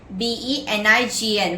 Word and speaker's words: benign: Benign, B-E-N-I-G-N, where the G is silent.